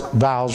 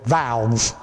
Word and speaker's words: vows: My wife says, now honey, make sure you pronounce vows right, because you say it the Kentucky way, valves, you know, a valve in a car, you know.